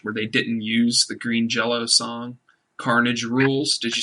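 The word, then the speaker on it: Green Jellÿ: blame it sounds like green jelly cancels a lot of their tour dates it's green it's green jell-o green jell-o yes i i said it wrong i'm gonna take um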